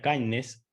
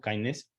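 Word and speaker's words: KINDNS: un programa nuevo que se denomina Kindness, se escribe K-I-N, perdón, K-I-N-D-N-S, digamos, Kindness, que es un conjunto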